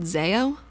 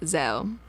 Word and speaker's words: Zeo: do you mean well if you think of the word Zed with the same first two letters you don't say it like Zade do you well no